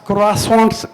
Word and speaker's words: croissant: तो मैं तुमको double croissants खिलाऊंगा. So I said, what is this, The aspiration of children in Kota to eat a bad, it's spelled Croissant. It's pronounced croissant in French, but, that they were